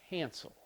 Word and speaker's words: cancel: L the next verb cancel cancel canel H cancel canel I like this one can cancel is the stresses on the first syllable so because the stresses